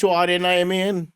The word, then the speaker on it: Horniman: Honeyman, is it pronounced? Honeyman. No. Man. Honeyman. Honeyman. It's Horniman. Honeyman.